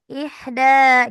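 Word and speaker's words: إحدى: untuk yang ida itu danya dibacanya agak panjang gitu. Iya, betul. Ihda gitu. Ihda asyrota. Jadi ya seperti itu kan jadinya seperti matobi ya. Ihda jadi panjang gitu.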